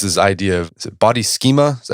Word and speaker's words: schema: So another idea of physical intelligence is the idea of body schema.